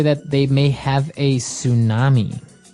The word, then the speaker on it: tsunami: they may have a tsunami. Well, this doesn't sound very English, does it? I know. Tsunami. And actually, if you see the spelling, it's with a ts, right?